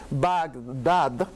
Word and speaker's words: Bagdad: van that hoy en la pronunciación bagdad es la pronunciación correcta pero cuánta gente dice